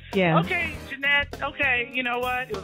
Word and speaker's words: Janette: your name jeanette yeah can pronounce the t like that yeah okay jeanette okay you know what